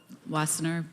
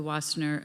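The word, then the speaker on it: Wassenaar: agreement and Arms Control wasner fastener in December it's a Dutch Dutch word I shouldn't pronounce it like the Germans and could you please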